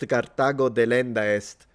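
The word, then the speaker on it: Carthago delenda est: It's pronounced Kartago deendist.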